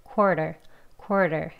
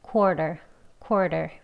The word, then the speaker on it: quarter: quarter. 이렇게요. 예, 그러면 약간 er 소리 약하게 해가지고 발음해 볼게요. 혀뿌리 많이 당기지 않고 하시면 quarter.